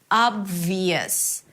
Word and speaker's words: obvious: Then you move to the V immediately. Obvious V high e a y sound schwa and s. Listen. Yes. Yes. Yes. The y is an intrusive vowel that appears between two vowels when you connect them together.